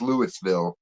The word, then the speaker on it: Louisville: Louisville. If you say it like you're supposed to in the dictionary, it's Lewisville.